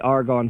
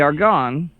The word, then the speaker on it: Argonne: say it at all hopefully I got it argon kind of like Lord of the Rings kind of like where